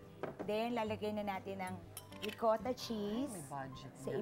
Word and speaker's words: Ricotta: Ricotta rhymes with Ricotta.